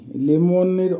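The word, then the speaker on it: лимонный: লিমনি, লিমনির অর্থ হবে হলুদ লেবুর রং, উচ্চারণ হবে লিমনি।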